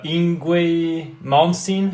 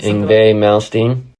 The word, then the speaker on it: Yngwie Malmsteen: Mine was Dio with, I don't know how to pronounce that, Yngwie Malmsteen? Yngwie Malmsteen.